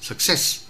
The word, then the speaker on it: success: Tôi xin nói ví dụ từ success, trong âm rơi vào sess, success.